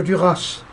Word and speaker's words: Duras: haute volée, mademoiselle de Duras. Oui, je prononce à la façon du sud-ouest parce que je viens du sud-ouest.